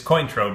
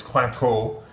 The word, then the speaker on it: Cointreau: So yes, in English it's Cointreau, but in French it's Cointreau.